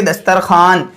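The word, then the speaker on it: دسترخوان: इसी तरीके से दस्तरखान। इसमें दस्तरखवान लिखा जाएगा, मगर इसमें वाव नहीं पढ़ेंगे, बल्कि हम इसको पढ़ेंगे दस्तरखान।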